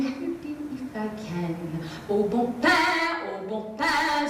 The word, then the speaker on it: Au bon pain: Au bon pain, au bon pain, it is not pronounced bon pain. Though your French is rather lacking, I will help you if I can. Au bon pain, say it with me, au bon pain.